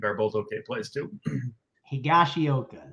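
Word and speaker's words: Higashioka: both okay place too higashiyoka that that that sounds better than whatever i said i think you're correct there with that pronunciation uh let's head on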